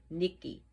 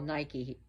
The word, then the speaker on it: Nike: And yes, Nikki, which people call Nike in America, but her name is Nikki.